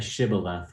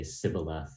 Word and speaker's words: shibboleth: of shiba left and when asked to pronounce the word would say sybileth and doing so would